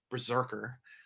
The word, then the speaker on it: BRZRKR: and then the anime which will also have the same character berserker um pronounced berserker like bazooka burke fans out there i'm